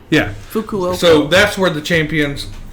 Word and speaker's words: Fukuoka: this a little bit yeah one how you pronounce that okay F hold on I'm fuoka yeah Fukuoka so that's where the Champions chip Champions League